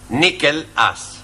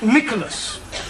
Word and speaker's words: Nicholas: upon a time there was a man called nickel us once upon a time there was a woman called nickel it's pronounced Nicholas alright once upon a time there was a